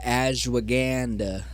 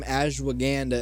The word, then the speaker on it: ashwagandha: I actually have some ashwagandha, and that's not how you say it. It's ashwagandha. Yeah, it's but ashwagandha.